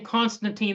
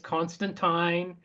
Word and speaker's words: Constantine: We've been saying Constantine the whole episode. Some people are going to say it's Constantine. What is your She always said Constantine.